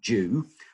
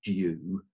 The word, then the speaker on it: dew: So first of all, the word dew. The pronunciation in English is a bit strange because it begins with a D, but we actually pronounce it like the first letter is a J.